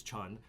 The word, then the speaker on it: Cheon: If you read it phonetically, it looks like Cheon, so just say Cheon.